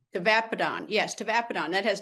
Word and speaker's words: tavapadon: How do you pronounce it? Tavapadon? Tavapadon, yes, tavapadon.